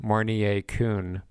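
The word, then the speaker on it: Mounier-Kuhn: intubation next question what is mornier syndrome this is spelled m-o-u-r-n-i-e-r and second word k-u-h-n mornier kuhn what is mornier syndrome another term for mornier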